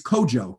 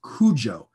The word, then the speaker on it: Kojo: If you're a boy born on Monday, your day name is Kojo, K-O-J-O. That phonetically is pronounced in English, Cujo.